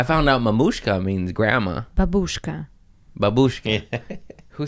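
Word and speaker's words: бабушка: The stress is different. Babushka, Babushka.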